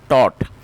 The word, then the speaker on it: taught: और इसकी जो करेक्ट प्रोनाउंसिएशन है वो भी आप ठीक कर लीजिए, टॉट।